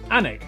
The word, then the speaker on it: Alnwick: Annick, which is near Newcastle.